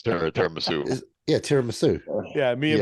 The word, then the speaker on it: tiramisu: Did you have any tiramisu?